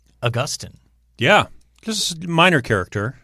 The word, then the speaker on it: Augustine: St. Augustine is how it's pronounced, correct? Yeah. And if you talk to most experts or theologians or church historians, they will probably tell you it should be pronounced Augustine.